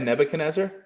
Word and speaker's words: Nebuchadnezzar: A Nebuchadnezzar?